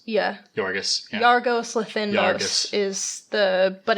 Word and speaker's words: Yorgos: Yorgos? Yeah. Yorgos.